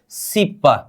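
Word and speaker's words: 십: हम यहां पर 10 को क्या बोलेंगे, सिप का मतलब 10 हो गया है ना हमारा, इसका उच्चारण क्या करेंगे, सिप। क्या, सिप।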